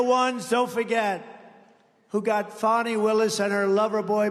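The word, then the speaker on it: Fani: You have to pronounce Fonnie. I don't know how she gets. She should add a little U in there someplace if she wants people to call her.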